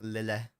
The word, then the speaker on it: Lille: That is how we pronounce it. It's not Lille, it's Lille.